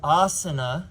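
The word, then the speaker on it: āsana: It looks like an A, but it's really like Now this is why the word is asana, because it's this one, the long asana. It's not asana because it's not the short If it were like the word ahimsa, it is the short.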